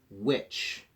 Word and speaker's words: which: wh at the beginning but that H is silent which and white those H's